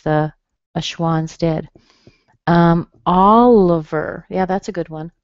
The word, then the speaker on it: Oliver: Oliver, yeah, that's a good one. Oliver fits into this category. Da da da. The I here is also a schwa. Oliver.